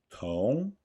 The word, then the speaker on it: 同: Note the small explosion of air in 同. Repeat after me. 同同 In 学, the S sound is pronounced with the dorsum of the tongue.